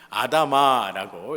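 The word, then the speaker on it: אדמה: 아담하다라는 뜻이 아니라 아다마라고 이렇게 발음이 돼요.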